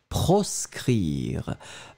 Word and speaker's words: proscrire: And then the second one, the B, will be proscrire.